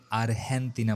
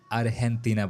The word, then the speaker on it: Argentina: Letter জি রয়েছে সেই জি এর পর যদি ই অথবা আই থাকে তবে সেক্ষেত্রে সেই জি এর উচ্চারণ হয় ইংলিশ লেটার এইচ এর মত। এজন্যই কিন্তু আর্জেন্টিনাকে আরহেনা বলা হয়।